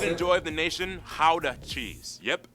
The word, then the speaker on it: Gouda: joy of the nation how the cheese yep that's how you pronounce oh how the wow i always said gouda i always said gouda